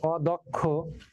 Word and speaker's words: অদক্ষ: যেমন অদক্ষ, এই যে দেখো এখানে লেখা আছে অদক্ষ, এই যে এখানে দ এর সাথে কি আছে অ, কিন্তু অ এর পরে কি আছে কয় স, তাহলে অ এর পরে কয় স থাকার কারণে অটা এখন ও হয়ে যাবে, এই জন্য হবে অদক্ষ। অদক্ষ নয় অদক্ষ, দো হবে, দ নয় দো, ওকার হয়ে গেল, এই যে ওকার হয়ে গেছে, ও হয়ে গেছে।